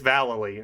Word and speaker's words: Vallely: And is it pronounced Vallely or Valele? Oh yeah. Oh yeah. It's Valele, and it's not.